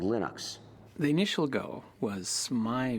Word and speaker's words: Linux: speak finnish it's linos when i speak english it's linus and i really don't care how people pronounce my name but linux is always linux he developed a kernel